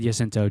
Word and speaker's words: San Jacinto: I'm going Jacinto. You're right. Yeah, that's what I got. Sorry, I should have said Jacinto. J is silent. Is that Jacinto.